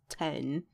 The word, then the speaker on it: X: The third track, simply titled 10, it's spelled out X, but it's like the Roman numeral 10, so it's 10.